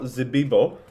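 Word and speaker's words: Zibibbo: I've got Zibibo. Oh, you pronounced that right, to be fair.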